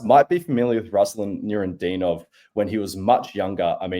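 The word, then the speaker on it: Nurudinov: Is the next one Rinadinov? Sorry, you pronounce it, Gus. So this is Ruslan Nurendinov.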